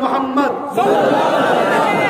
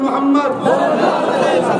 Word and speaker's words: মুহাম্মদ: আপনারা সবাই একবার বলুন মুহাম্মদ, আপনারা একবার উচ্চারণ করুন মুহাম্মদ। খেয়াল করতে কোন নবীর নাম নিলে দুই ঠোঁটে ঠোঁট ঠেকছে, বলুন মুহাম্মদ। আমার নবীর নাম চুমা না